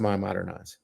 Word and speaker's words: MyModernize: It's spelled MEI modernize.ai, but it's pronounced MyModernize.